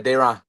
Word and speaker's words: Deron: Am I saying it right? Yeah, Dayron. Dayron.